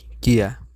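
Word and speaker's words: キャ: তাহলে এখন এটা কি হবে, যেমন আমরা যদি শুধু এটা উচ্চারণ করি তাহলে কি বলি ইয়া, আর এখন বলবো কি কিয়া।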